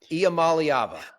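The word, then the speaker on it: Iamaleava: It'll take me a year and a half to pronounce his name, and then he'll be off to the NFL. I think it's Iamaliava.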